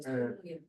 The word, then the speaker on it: 선릉: 2호선 설릉역입니다 그렇게 말하는데 선릉이라고 안 하고 설릉이 그 저도 그게 제일 설렁얘기.